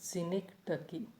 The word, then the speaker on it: synecdoche: How do we pronounce it? Synecdoche. The pronunciation is synecdoche, and the meaning of it is to sense or to understand.